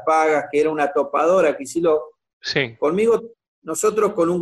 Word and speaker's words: Kicillof: Y la gente no sabía ni pronunciar Kicillof. O sea, la gente te decía, ¿quién es Chiquiló?